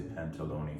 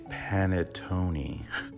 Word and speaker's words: panettone: I want to say pantalone for some reason. It's panettone. Shake.